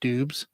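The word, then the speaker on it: Doubs: he came through and said dubs is the I think dubs is the correct way to say his name but he'll he'll take dubes but I saw I can't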